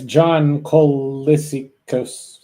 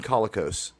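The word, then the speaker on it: Colicos: That's John Kissos. I can't I can't pronounce it. It's Boltar from BSG1. It's John Kolicos.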